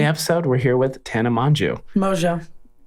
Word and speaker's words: Mongeau: we're here with tana manju mojo how do you how do you say why it's spelt manju well i mean take it up with the french you know like i